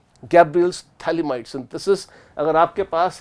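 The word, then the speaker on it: phthalimide: ये है थैलीमाइड। थैलामाइड भी हो सकता है अगर खाली एक से NH2 लगा देते हो, पर यह है थैलीमाइड, PH साइलेंट है।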